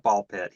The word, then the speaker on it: BALL x PIT: I watched the trailer and they call it Ball Pit even though it's spelled Ball X Pit.